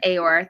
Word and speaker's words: Aayor: uh it is pronounced Aore. Think Eeyore but with an A.